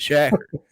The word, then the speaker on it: Shaker Jack: And remember, he came back and he was like, all right, my bad, and he's now Shaker Jack, but he pronounces it Shacker.